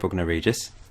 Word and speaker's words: Bognor Regis: Yeah, let's just go with Bognor Regis, as that's how it's pronounced.